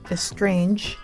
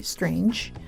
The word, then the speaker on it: strange: I would tell the student that estrange should be strange without the additional e sound at the beginning, and that it's sunbeam, not sunbeam.